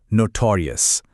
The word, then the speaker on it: notorious: इसे प्रोनाउंस किया जाता है नोटोोरियस। मेन स्ट्रेस सेकंड सिलेबल पर आता है।